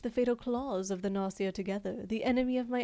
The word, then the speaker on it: Gnosia: So, you just assume that's how it's pronounced. Okay. Nosia. Nosia.